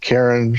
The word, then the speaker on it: Charon: I usually pronounce it Sharon but sometimes Karen sometimes um hey you